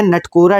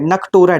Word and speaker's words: नकटोरा: ठीक है, ये है नटकोरा डांस। ठीक है, नकटोरा डांस, सॉरी नकटोरा, वो थोड़ा प्रोनाउंसिएशन में थोड़ा सा दिक्कत आ रहा है।